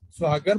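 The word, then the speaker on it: ਸੁਹਾਗਣ: इन्हां दा उच्चारण सस्से नूं अगर थले जड़ी है वो औंकड़ नाल है सुहागन बोलना है।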